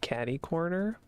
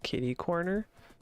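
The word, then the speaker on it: catty-corner: I've always heard it pronounced caddy corner, but I know some people say kitty corner.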